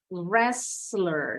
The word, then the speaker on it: wrestle: Kalau orangnya yang bergulat, wrestler, ditambahin R. Jadi ternyata wrestle ini ada selain silent W, silent T juga, wrestle.